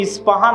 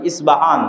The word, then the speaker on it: ইস্পাহান: নামে সেই নগরী আছে আমরা উচ্চারণ করি ইস্পাহান আরবিতে এটা উচ্চারণ হয় না আরবিতে হয় আল আসবাহানি বা উচ্চারণ হয় ইসবাহান বাসবাহানি সেখান থেকে 70